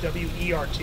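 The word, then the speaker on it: wort: the liquid is called wart and it's spelled w r t but it's pronounced Wert because it's German word w so that W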